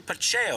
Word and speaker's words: Pacheco: And I'm joined here by Phil Pacheco.